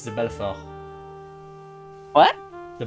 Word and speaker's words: Belfort: I don't know how to pronounce it in French. It's the Belfort. What? The Belfort. Belfort.